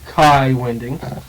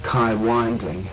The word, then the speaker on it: Kai Winding: playboy club these days kai winding i'm told that's the correct danish pronunciation it is thank you dan ted calls him kai wingling i was once on